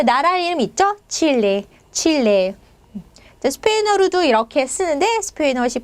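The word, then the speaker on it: Chile: 칠레. 스페인어로도 이렇게 쓰는데 스페인어식 발음은 체프고요.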